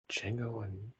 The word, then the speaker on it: Django: for d django unchained django it's it's with uh like i think i believe with a silent d oh oh okay